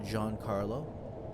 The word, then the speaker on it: Giancarlo: name is my field my active first name is pronounced Giancarlo but because it's long in Italian and it looks intimidating and foreign people either call me